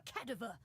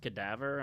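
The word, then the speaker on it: cadaver: Nope, she came back rich cursed by a coffin rescued by a kativa. Did Did nobody tell her it's pronounced kadaavver?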